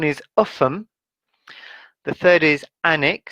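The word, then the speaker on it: Alnwick: offem the third is anik so the l is silent the next one is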